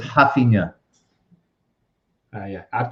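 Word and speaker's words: Raphinha: it has to be hafina i would say rafinha you say am i saying it wrong well it's it's i don't know it's it's weird in brazil they pronounce the r like an h yeah in brazil so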